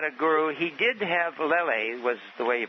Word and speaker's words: Lele: He did have Lele, was the way you pronounce it, Leonard, who he was with for